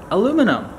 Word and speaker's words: aluminum: aluminium and American aluminum it's not that I'm pronouncing it differently they are two completely different words aluminum is the American one and the sort of British spelling and pronunciation is aluminium we have an i at the end which kind of changes the way you say the whole world the whole word um and in fact